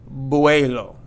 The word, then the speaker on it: vuelo: the word means flight buello and make sure we pronounce this V or B sound properly buello and not vuelo and